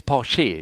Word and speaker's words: Porsche: It's Porsche. Yeah. Porsche. Porsche. We We pronounce the E. The last E.